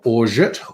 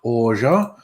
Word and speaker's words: orgeat: The debate as to whether you pronounce the T at the end of orge. Orgeat, orge.